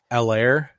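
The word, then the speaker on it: Helaire: so there his eight the h is silent i learned oh yeah yeah i think they talked about it in the game so it's clyde edwards l air oh okay so i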